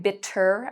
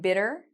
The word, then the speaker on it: bitter: You'll notice with the T, in North American English, we pronounce this like a D. So I'm not saying bitter, I'm saying bitter, but you can do it either way.